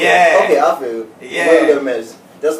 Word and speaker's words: WilderMEZ: Isn't it Wilder though? It's WilderMEZ. No, because it's supposed to rhyme with wilderness, so you just say WilderMEZ. Okay, WilderMEZ. Yeah, because, you know, wilderness.